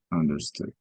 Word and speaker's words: understood: understood understood okay so double O in English is pronounced like a long u right so that's understood okay so when you